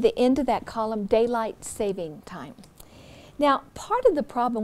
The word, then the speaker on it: daylight saving time: this entry is that we often mispronounce it we say daylight savings time so note that that's not there's no s there and then there is